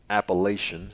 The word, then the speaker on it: Appalachian: I have to make sure I correct myself because, my elementary school teachers failed me in pronouncing that word correctly. It's Appalachian if you went to Oak Brook Elementary in Sherwood, Arkansas.